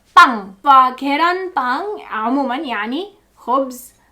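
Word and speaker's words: 빵: فالكلمة دي يعني مشتقة من اصل فرنسي، فاصبحت كورية واصبحت تنطق بانغ.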